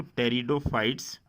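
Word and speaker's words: pteridophytes: ब्रायोफाइट्स के बाद टेरिडोफाइट्स, P silent होता है यहाँ पे, तो टेरिडोफाइट्स।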